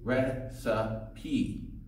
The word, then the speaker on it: recipe: pronunciation of recipe is recipe with a long e at the end recipe do you know